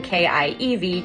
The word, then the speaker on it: Kiev: very different, of course, from the Russian version, K-I-E-V, Kiev.